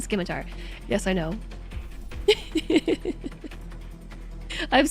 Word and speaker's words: Scimitar: Sorry for being this guy, but the C is silent in Scimitar.